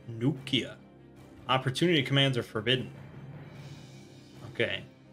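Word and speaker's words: Neukhia: gulp beat the new Kia new Kia it's pronounced new Kia opportunity commands are forbidden okay alright we do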